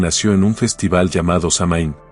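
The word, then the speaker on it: Samhain: años esta celebración nació en un festival llamado samain pronunciado soen un evento central en el calendario Celta que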